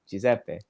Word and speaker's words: Giuseppe: since I'm a kid, people had difficulties to pronounce my name, Giuseppe, because it's an Why? Italian name. So they didn't know. So some people, they called me Giuseppe. Some people called me or whatever.